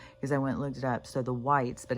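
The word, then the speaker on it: wights: And then on the Game of Thrones, because I went and looked it up, so the whites, but it's not spelled like the color white, it's W-I-G-H-T.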